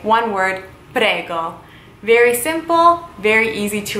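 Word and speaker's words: prego: welcome in Italian you would say one word padega very simple very easy to remember good I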